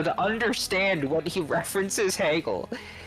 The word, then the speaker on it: Hegel: So you can't just read a summary of Heaggle to understand how Markx references or Hegel is how it's actually pronounced.